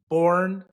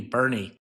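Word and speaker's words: Boerne: Cave Creek, Arizona to Bourne. Is that how you pronounce it? Is it Bourne, Texas? B O E R N E. It might be Bernie. You never know.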